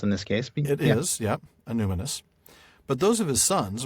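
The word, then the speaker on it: Annúminas: I always get the stress on the wrong syllable on this word. Anuminas? Anuminous.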